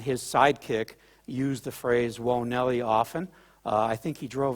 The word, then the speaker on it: Whoa Nellie: in Europe I noticed a lot of people say wha Nelly but it is whoa Nelly and we kind of